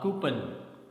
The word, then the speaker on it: coupon: next one is c-o-u-p-o-n generally we speak it as but the correct pronunciation is coupon right okay next word